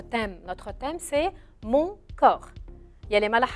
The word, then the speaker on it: corps: acteurs qu'on n'ose et un mot un peu bizarre il s'écrit avec la lettre c o r corps et se termine par deux lettres que je ne prononce pas avec le p et avec le s le s même si ces singuliers yaya